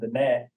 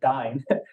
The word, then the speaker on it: Diné: Pima, or Navajo and Diné, keeping in mind the accent on the E usually gets dropped. So you're looking at Diné and the Dine.